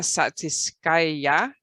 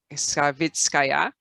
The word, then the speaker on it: Savitskaya: And here we have a Soviet astronaut, cosmonaut, Svetlana Satitskaya. Did I say it right, Alexander? Savitskaya.